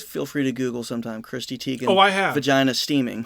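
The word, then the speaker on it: Chrissy Teigen: But the bottle's name, I'm not going to pronounce her last name right. It's John Legend's wife, Christy Teigen. Yeah, Christy Teigen. Please feel free to Google sometime Christy Teigen.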